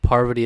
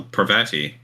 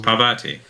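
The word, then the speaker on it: Parvati: her it hurts usually so prevatti is how it's usually pronounced pavati well that's how it's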